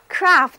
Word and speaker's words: craft: craft 本身呢也是一个单词，注意这里的字母 A 在这里读长啊。Read after me，跟